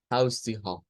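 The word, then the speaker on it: Haustiere: Pero para que sea más fácil, lo ideal es separar las sílabas. Entonces, la primera sílaba es toda esta. Debemos decir house tea, house tea, y luego ha, house tea ha, house tea ha. Y allí tendríamos el sonido aproximándolo al español.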